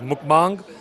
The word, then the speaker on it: mukbang: uh properly pronounced as mukbang.